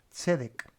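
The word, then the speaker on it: צדק: el sustantivo, la shor con la doble e acá sedc. Sedec.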